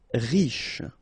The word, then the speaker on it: riche: Okay, remember, C-H-E, sh. So, sh normally, but then you don't insist on the final E, so, sh. Riche.